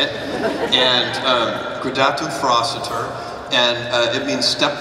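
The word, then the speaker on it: Gradatim Ferociter: pronounce that all right gatum froster that's how we pronounce it and um I'm not actually I actually have been told that's not the right way but that's the way I like to say it and um gatu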